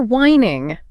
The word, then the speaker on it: whining: And if a kid is complaining unhappily, they're whining. Sounds just like wine that you drink, but spelled differently. Whining.